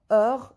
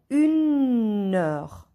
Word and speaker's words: heure: Here, H is silent in all the words. Heure. H is silent. Here, to join the first word to the second word, we say une heure.